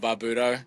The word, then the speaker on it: Barbuto: First first time around you got it Barbuto.